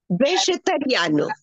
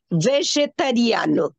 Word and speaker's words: vegetariano: Please see the spelling, pronunciation of this. Vegetariano. It is not vegetariano. Okay? When you say words in Portuguese, the R is a very important part of the language. R. Okay? Vegetariano. Not in English, we say vegetarian.